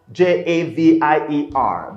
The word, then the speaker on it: Javier: guy called javier okay his name is spelt j-a-v-i-e-r they pronounce javier you know spanish okay now hadir is